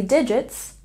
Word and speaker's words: digit: There are 3 digits, 3, 0, 0, in the number 300. Let's take a look at pronunciation. There's a stress on the first syllable in digit, digit, and a stress on the first syllable in number, number.